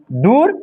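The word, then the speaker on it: دور: वाव से पहले जो ख है इसमें उसमें पेश छुपा हुआ है। इसीलिए इस वाव को थोड़ा खींच कर पढ़ते हैं। खूब। ऐसे ही ये वाव से जो पहले जो दाल है उस पर पेश छुपा हुआ है। इसलिए खींच के पढ़ते हैं दूर।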